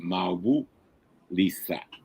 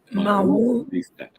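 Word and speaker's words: Mawu-Lisa: A sister keep getting me the pronunciation Mawu Lisa. Mawu Lisa.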